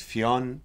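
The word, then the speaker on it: Ffion: It's Fionn Davies. I think I'm pronouncing the first name right. It's like how we would say Fiona in Ireland without the A afterwards.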